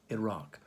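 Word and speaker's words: IRAC: to legal questions is iraq no not the country not spelled like the country i r a c iraq hmm now why let's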